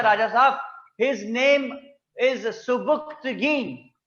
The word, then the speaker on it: सुबुक्तगीन: उसने कहा यहां पे एक मुसलमान बादशाह की हुकूमत है राजा साहब, हिज नेम इज सुबुक्तगीन। जी, बोलेंगे सुबुक्तगीन, लिखेंगे सुबिक्तिगिन, याद रख लें स्पेलिंग के लिए इसके, सुबिक्तिगिन।